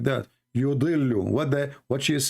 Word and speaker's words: يضل: Yudillu. What she is saying? يضل. Look, what the heck? This is يضل. what the heck? Yudillu.